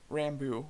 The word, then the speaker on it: Rambeau: Ram buy Ram bu Monica Rambo Rambo I think is how you say her name she looks like a